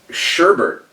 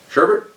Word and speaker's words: sherbet: Sherbet? Sure. It's not spelled like that. It's never been spelled like that. It's Sherbet. There's no Bert. It's just sherbet.